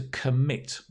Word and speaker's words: commit: crimes maybe okay um notice that the stress is on the mid so the comb c-o-m becomes k to commit say that with me to